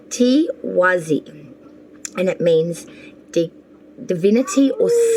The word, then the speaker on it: Tiwaz: All right, Scorpio, let's get your ruin meaning now for the month of May, and it is pronounced Tiwazi, and it means divinity or sun.